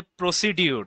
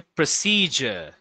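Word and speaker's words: procedure: কি decide on প্রসিজার এটাকে অনেকে বলে প্রসিডিউর তাই না গাই এটা বলে না প্রসিডিউর গাইর বলে এটা হচ্ছে প্রসিজার প্রসিজার মানে ইউ এটার উচ্চারণটা হয় জ এর মত প্রসিজার আচ্ছা ডিসাইড অন প্রসিজার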